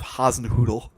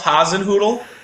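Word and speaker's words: Hasenhüttl: say come on ralph haasenhoodle yes it's spelled h-a-s-e-n-h umlaut ttl sounds like a crossbreed of a poodle and something else but it sounds like a dog breed for sure welcoming everybody to fantu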